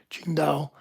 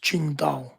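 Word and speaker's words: Tsingtao: It's the city of Chinga is spelled Qi N G D A Ching Dao. The beer is spelled T Si N G T A singo. It's pronounced Chinga.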